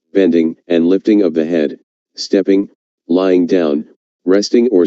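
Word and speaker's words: 呵: The 6 sounds are Su, pronounced like shh with a deep sigh, which is associated with the liver; He, pronounced like her with a yawn, which is associated with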